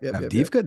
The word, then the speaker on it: Avdiivka: pronounce it because I'm going to butcher the pronunciation. I think it's Avdiivka, but Avdiivka. Yep. Avdiivka.